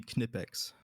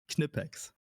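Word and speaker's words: Knipex: Uh if you if you pronounce their name in German, it would be Kipex.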